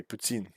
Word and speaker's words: poutine: quebec while i know all right uh owen poutine addie taught me how to say it properly putin uh joseph walker at the plate with one